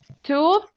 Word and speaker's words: toothache: The pronunciation would be like this. Let me show you. Toothache.